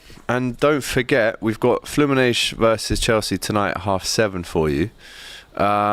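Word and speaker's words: Fluminense: In Brazilian or Portuguese, you pronounce it as flumines. Oh, is it? But flu manenge is is is maybe the European one.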